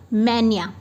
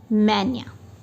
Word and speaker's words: mania: मैनिया। देखिए MAY, मैं फिर से आपको लिख के बताती हूँ। MAY, मैं, NEE, मैनिया। मैनिया, मैनिया।